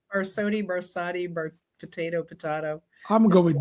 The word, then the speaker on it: Barsotti: First of all, is your last name is it Barsotti or am I How How do you say it exactly? You got it. Barsotti Barsotti Barsotti potato potato.